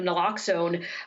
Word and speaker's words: naloxone: overdose prevention through the distribution of, I guess, naloxone, is that how it's pronounced?